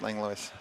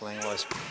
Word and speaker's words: Langlois: I think he pronounces the S. Okay. Like, it could be either way, but I think it's Langlois.